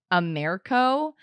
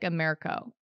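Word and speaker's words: AMERCO: and and you're going to hear the name Amero it's spelled a m e r c o it's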